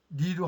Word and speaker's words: 麗: 그럼 1920년 이후는 그렇게 됐다고 그러는데 지금요 옥편에 보면요 분명히 빛날려 자는 형용사로 쓸 때는 뭐 고울려 빛날려 쓰지만은 국호로 할 때는 니로 한다라고 써 있어요.